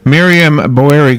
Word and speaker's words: Miriam Boeri: Miriam Boeri.